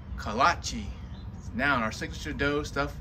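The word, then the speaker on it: kolache: and it's pronounced kalachi now our signature dough stuffed with all kinds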